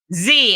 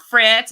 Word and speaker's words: Fitz: Fitz. It's not Fritz, it's not, it's Fitz.